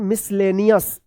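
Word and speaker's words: miscellaneous: चलिए यहाँ पे देखिए MISCELLANCEOUS क्या पढ़ेंगे मिसलेनियस, मिसलेनियस पढ़ेंगे मिसलेनियस, ठीक है।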